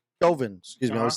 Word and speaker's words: Chauvin: The Derek Shaw case, I would say Chauvin. Excuse me, I always say that guy's name wrong, which doesn't matter because he doesn't even